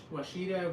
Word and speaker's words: Ouachita: to say, oh goodness, Washita River? I don't even know if I'm pronouncing that right. Oh, how do you pronounce that? It's Ouachita River in North Louisiana.